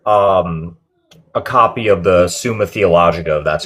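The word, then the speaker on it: Summa Theologica: You know, actually before I go, I I just ordered um a copy of the Suma Theologica, that's how you pronounce it.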